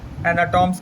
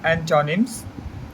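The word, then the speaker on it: antonyms: एंटोनिम्स, बहुत से लोग को क्या है, एंटोनिम्स बोलने नहीं आता है, एंटोनिम्स कहेंगे, एनाटॉम्स कहेंगे। तो इसका सही प्रोनाउंसिएशन है एंटोनिम्स ऑफ सैक्रिफाइस।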